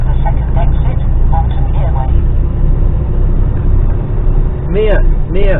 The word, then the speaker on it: Mere: Mere, not ear, mere, as in meerkat. Well, not as in meerkat, as in mere, the lake, or large pond, M-E-R-E. Pronounced as in meerkat, not fucking ear.